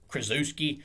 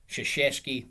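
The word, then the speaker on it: Krzyzewski: won 1170 career games and that is mike shashesky of course i've always called him mike krazewski because of the way his name is spelled but of course it's polish so it's pronounced shishesky even though it looks like krazewski he's 30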